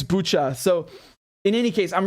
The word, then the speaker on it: Bucha: um coming out of bucha i'm really annoyed because i heard the uk ambassador calling it buca and then i started pronouncing it like that thinking she must have it right because she's going to